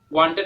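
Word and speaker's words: won: এটার উচ্চারণ ওয়ান, ওন নয়, ঠিক আছে?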